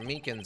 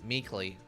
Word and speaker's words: Meekins: for it actually officer Meekins at the Detention Center told us ah that poor little doggy poor guy I keep getting his name wrong and calling him meekly he told us something